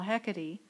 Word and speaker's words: Hecate: He turns to Hecate, the leader of all witches, pronounced Hecate by Shakespeare instead of the more traditional Hecate, and to the darkness now taking over his body, mind, and soul.